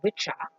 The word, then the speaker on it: Wicca: the view ICCA that people call now this pronounce which are and the a on the end suggests masculine